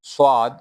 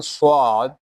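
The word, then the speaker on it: ص: While reading swad, whistle sound will comes. But it is heavy letter. We will read it heavily. The while pronouncing swad swad the sound will fill in the mouth.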